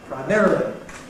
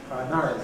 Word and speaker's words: primarily: The dotted line is ‘primarily’ , ‘primary’ , therefore ‘primarily’ , giving way to the new , or perhaps for some people, but anyhow stressed on the second syllable, becoming .